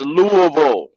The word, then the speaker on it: Louisville: will address it as Louisville it is no s do not pronounce the s um and yeah that's